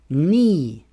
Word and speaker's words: knee: Rule number 2 is the K is silent in KN words. For example, we don't say knife. We say knife. The K is not pronounced. Knee.